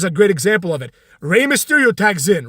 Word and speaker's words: Rey Mysterio: probably threaten his job he'd be like that's Rey Mysterio Michael Know Your Role say it like you're